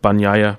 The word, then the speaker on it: Bagnaia: My man, Jorge Martin in second, followed by Alex Rins in third, Juan Mir in fourth, and then Francesco Bagnaia, that's pronounced Bagnaia Biscuits, just in case.